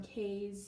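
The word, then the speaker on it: Kae's: here today with a super fun haul from Kay's scented I always want to say her name wrong basically it's case K's scented wax scented melts so this is the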